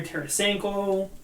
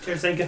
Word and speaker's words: Tarasenko: And yeah, just to name a couple other ones, Artemi Panarin, Vladimir Tarasenko. Why did I say it like that? Tarasenko.